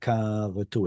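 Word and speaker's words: כָּרַתּוּ: You said that correctly. Karatu. It's not a kamatz katan. How do we know? Because it's a katal verb, and the katal verb is supposed to have an a pattern.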